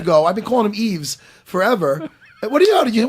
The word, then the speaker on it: Yves: I've been calling him Yves forever. What do you know? Why are you high fiving? You got it right? silent. He said it's silent. The S is silent.